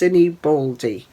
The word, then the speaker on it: Sinibaldi: stitched handmaids by Amy I think it's pronounced cine baly but there we go